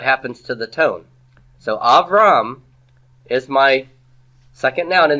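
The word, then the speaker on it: אברם: So Avram is my second noun in the absolute. Where's the tone syllable? Av or Ram? It's Ram. Av is pretonic.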